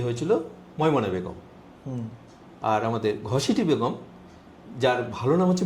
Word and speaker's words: ঘসেটি: আর আমাদের ঘসিটি বেগম, যার ভালো নাম হচ্ছে মেহেরুন্নেসা, আর তার ডাকনাম বা আরেকটা নাম ছিল গহসেটি। অ্যাকচুয়ালি সেটা উচ্চারণ হয়ে যায় ঘসেটি।